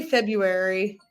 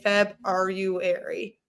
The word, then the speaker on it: February: Like, I think I say February, but when I'm spelling it, I say in my head I say Feb-R-U-ary because there is that R in there. I think you pronounce the first R.